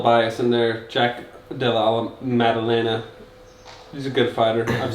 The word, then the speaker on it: Maddalena: How do you pronounce that? Maddalena. Yeah, I always want to say Mandela, but yeah, this is a good fight.